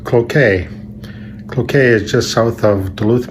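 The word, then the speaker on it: Cloquet: on all right well here's the pronunciation of the town you continue to butcher is pronounced croquet is pronounced croquet croquet is just south of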